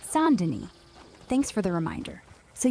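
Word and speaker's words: Saint Denis: As a reminder, it's pronounced sand. Got it. Goob. St. Dennis. Sandin.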